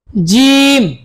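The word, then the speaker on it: ج: সা আবার বলুন সা জিম শক্তভাবে জিম জিম আমার সাথে বলবেন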